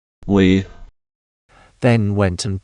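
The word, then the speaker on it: oui: No one refused to get my beans, but each time I was told we, which means this, and is pronounced we.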